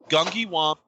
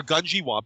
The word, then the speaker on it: Gungywamp: knowledge right it says gungi wamp or gungi wamp excuse me is an archaeological site